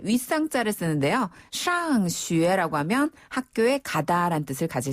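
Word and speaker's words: 上学: 샹슈에라고 하면 학교에 가다라는 뜻을 가질 수 있어요.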